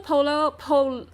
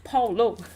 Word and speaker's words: Paulo: Hey, hello, Paula, oh, Polo. Oh my god, Paulo. Hi, so sorry, I pronounced your name wrong.